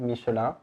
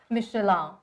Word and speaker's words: Michelin: Okay, I still pronounce this way, but I want you to teach us how to pronounce it in a French way.